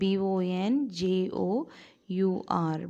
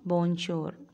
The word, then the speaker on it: bonjour: france french okay france french and it is pronounced the j b-o-n-j-o u r bornshore bonjour this is announced as bonjour so uh these